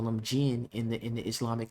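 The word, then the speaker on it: jinn: genie not with a G because that's how they spell it in English language but genie or gin which is in the Arabic culture or the Islamic culture which is these beings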